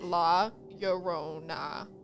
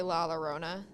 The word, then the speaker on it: La Llorona: it's pretty popular Legend I literally had to write how to pronounce it my white ass had to write la yorona like because I was originally gonna say la lorona La Corona La Corona